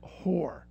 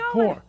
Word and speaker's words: horror: Debbie calls it whore. No, I don't. She says horror.